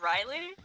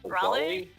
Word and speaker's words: Raleigh: statue of Sir Walter Walter Riley is that it's pronounced Raleigh Raleigh yeah I think